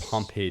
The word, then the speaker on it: Pompe: get the name right was it pompe disase Pompei disease okay I was not sure how to pronounce that thank you so